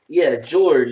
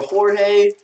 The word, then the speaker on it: Jorge: George. There we go. George or Jorge. However you want to pronounce it.